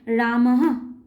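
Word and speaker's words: রামঃ: হয় যেমন ধরো রাম রামের পরে যদি বিসর্গ থাকে তাহলে উচ্চারণ হবে রামাহ এইরকম করে হ এর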